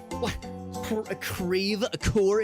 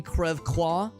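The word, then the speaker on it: Creve Coeur: Don't you mean Crevecoeur? So here in St. Louis, that's how we pronounce everything. We pronounce our French places like very phonetically, like deliberately. It's very odd. It's not Crève-Quoi, it's Crève-Coeur.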